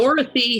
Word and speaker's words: Dorothy: Dorothy has two O's. Yeah, it's Doro. People think it's Dorthy.